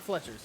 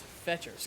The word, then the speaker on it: Fetcher's: Not Fletcher's. It's Fetcher's. God damn it. It's such a weird name because it's spelled exactly like Fletcher. Oh, I guess it's missing the T, but whatever.